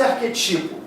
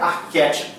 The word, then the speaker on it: arquétipo: Então não pode ser arquetipo, tem que ser, não pode ser prototipo, tem que ser protótipo, tem que ser arquétipo, tem que ser lévedo.